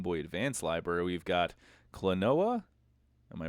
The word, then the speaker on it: Klonoa: in the Game Boy Advance library, we've got Klonoa. Am I pronouncing that right?